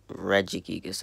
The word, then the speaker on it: Regigigas: continue ever-ready gigas regigigas tell me how you pronounce it I say regigigas I think but that he used